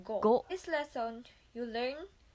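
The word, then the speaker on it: ご: Hiragana ko, it will be go.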